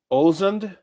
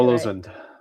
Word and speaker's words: Ålesund: Uh it was a seven-night cruise and we went to Molde, uh Ålesund, Olden, and Bergen.